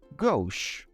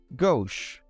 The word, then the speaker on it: gauche: fun today we will learn how to properly pronounce and understand the meaning of two fancy words our first word is gauche gauche this French word refers to someone who is